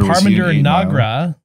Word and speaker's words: Parminder Nagra: Parminder Nagra.